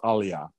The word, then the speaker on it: aliyah: sense to you uh the words pronounced aliyah aliyah and what he's talking